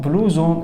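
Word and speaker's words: blouson: بلوزون ان بلوزون بلوزون بلوزون الاس بين حرفين متحركين بتتنطق زد سويتر مبطن فرع انا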